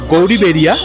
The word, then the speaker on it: গৌরীবেড়িয়া: কিন্তু অরিজিনাল কথা হচ্ছে গৌড়ীবেড়িয়া। আপনারা সোজা হেটে চলে আসবেন। হেটে এসেই বাহাতেই পেয়ে যাবেন এই গৌড়ীবেড়িয়া প্যান্ডেল।